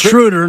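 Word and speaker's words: Schröder: First of all, it's Schroeder, not Schroeder.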